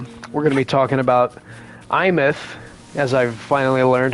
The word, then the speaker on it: Aemeath: We're going to be talking about Aemeath, as I've finally learned how to pronounce her name.